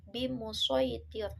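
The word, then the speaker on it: بمصيطر: Nah, shad di sini tidak diganti menjadi sin tetapi tetap dengan huruf shad bimusaytir. Billahi minasyaitonir rajim. Bismillahirrahmanirrahim. Lasta 'alaihim bimusaytir.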